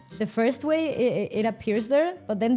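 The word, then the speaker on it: güey: I pronounce it like way and it's like a meme now. So every time I type it I use an i instead of the y.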